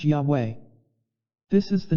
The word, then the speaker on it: Yahweh: four-letter word and when translated they become Yahweh pronounced Yahweh this is the name that is so holy